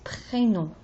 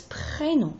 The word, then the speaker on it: prénom: When you say prénom, the E alone is E, but it's not prénom, it's prénom. So it's very important that you say P, R, E, accent aigu, N-O-M.